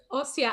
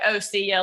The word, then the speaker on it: OSSIA: Well, I've just been pronouncing it the Southern way, which is like Ossia, like see ya at the opera house, Like my mom calls it Ossia.